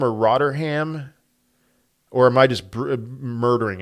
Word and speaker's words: Rotherham: Rotherham.